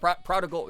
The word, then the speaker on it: prodigal: Uh, that's me with the word uh prodigal. I always want to pronounce it like prodigy, but I I think it's the other G.